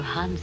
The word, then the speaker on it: Hans: name it is I can't call you Hans anyway it rhymes with France call me Max that